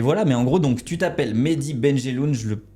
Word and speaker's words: Mehdi Benjelloun: Mais en gros donc tu t'appelles Medy Benelun, je le prononce bien.